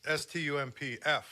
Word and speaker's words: Stumpf: I think it was that Alex Stumpf or whatever his name is.